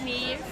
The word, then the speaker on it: Niamh: So it's Neve. Neve. Yeah. How do you spell that? So it's Niamh. With a H on the end of it.